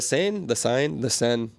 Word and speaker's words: Seine: Hey, man, they were sending Olympians into the Seine. The Seine. That's how you say it in Paris.